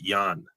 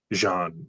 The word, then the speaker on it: Jean: So, them being them changed it to Jan and pronounced it Yan instead of Jean, the French way, right? So, I have a French spelling name. It's Hispanic pronounced Yan.